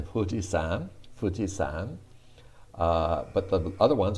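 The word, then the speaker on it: 富士山: hee hoo hey ho i told you that the who is often written with an f as in fujisan fujisan but the other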